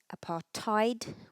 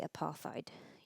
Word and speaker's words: apartheid: and literally means separateness the pronunciation of apartheid for um Brits is aparti we don't pronounce a th Americans would say apath you can use either of course South Africans themselves also say apartheid here are some pointers